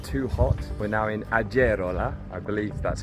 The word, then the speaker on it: Agerola: pronounce this between us in Spanish the G is like a h sound which of course is not true in Italian but also we were